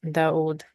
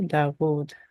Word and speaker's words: داود: So we are going to pronounce the W sound, the consonant sound of wow, Dawood.